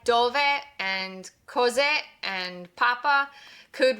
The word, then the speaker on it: dove: This is pronounced dove. Remember, since there's no accent on the word, the stress falls on the penultimate syllable, dove.